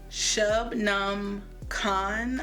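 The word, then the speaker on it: Shubnum Khan: The Djinn Waits 100 Years by Shubnam Khan, I believe her name is pronounced.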